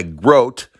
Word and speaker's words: Grote: there's probably I pimped my Groat and that's how you say it I'll tell you what